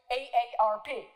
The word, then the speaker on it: AARP: no longer an acronym, pronounced as I have just pronounced it, following the pronunciation guide on the website, quote, one letter at a time.